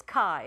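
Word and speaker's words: καί: thong so those two blend to make one sound so we're going to count those two letters as one okay so it's one syllable it's Kai it's the most used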